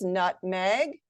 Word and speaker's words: nutmeg: Scoop the syllables, nutmeg, nutmeg, nutmeg, nutmeg. Oh, nutmeg, like, oh, she put nutmeg in the cake. Nutmeg, first syllable stressed.